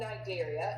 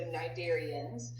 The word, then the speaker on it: Cnidaria: And if you notice in the picture, phylum Cnidaria, and the C is silent, so Cnidarians, encompass our jellyfish, our sea anemones, and our corals.